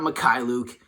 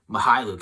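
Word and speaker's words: Mykhailiuk: but savima hai luke that's how you pronounce it not makai luke mahailuk at least that's how they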